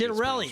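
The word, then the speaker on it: Ciattarelli: Can't pronounce his last name. Chitter Chitterelli, I think. Chitterelli, that's what it is.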